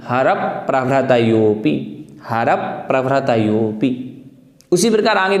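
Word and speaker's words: हरप्रभृतयोऽपि: इस प्रकार से अगर हम उच्चारण करेंगे तो ठीक रहेगा। यहाँ भी देखें हमें क्या कहना है, हरप प्रभृतयोऽपि, हरप प्रभृतयोऽपि, हरप प्रभृतयोऽपि।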